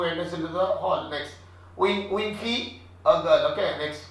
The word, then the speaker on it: un: J'ai un roman. I have a novel. J'ai un roman. Un. Nasal accent. Un.